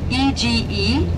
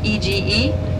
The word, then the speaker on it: Ege: again but we can ege in Turkish ege again wait that's how we pronounce because G is clear for us again and